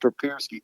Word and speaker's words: Papirski: Yeah, the spelling doesn't make any sense, but It's tough. It's pronounced Papirski.